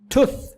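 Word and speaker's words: tooth: कहेंगे टुथ या टुथ, बल्कि टी की आवाज़ ब्लास्ट कर लें, ठुथ ठुथ। ठुथ नहीं बोलना, ठुथ ठुथ। या ठुस होता है ना जो, ठुथ नहीं बोलना और ठुस नहीं बोलना, दरमियान का वर्ड है ठुथ।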